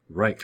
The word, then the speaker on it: Reich: the Third Reich, and a lot of kids want to pronounce it like that, but it has more of a sound. Reich.